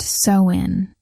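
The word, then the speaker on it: Samhain: October 31st, the night of Samhine, pronounced soin.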